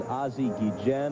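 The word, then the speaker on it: Ozzie Guillén: to be a purist I know the prop pronunciation is azi Gan and I'm going with you on this but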